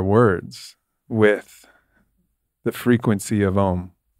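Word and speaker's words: ॐ: All that beautiful prayer you said, they say it in one syllable, Om. Om.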